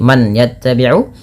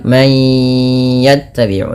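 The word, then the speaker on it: مَنْ يَتَّبِعُ: Kemudian illa mad thbii linaamaula mayya itu bununah masukkan bunyi suara nun kepada huruf ya. Bukan lagi man yattabiu tapi menjadi may yattabiu sembari ditahan dua harakat.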